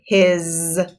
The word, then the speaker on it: his: When I say his, it sounds like there's a Z at the end of the word his, but it's really an S. So that's tricky.